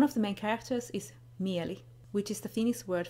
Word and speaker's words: Mieli: One of the main characters is Mieli, which is the Finnish word for mind.